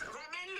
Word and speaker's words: ramène-le: It's ramène-le. It is like bring him. Bring him. Yeah, bring him. Ramène-le.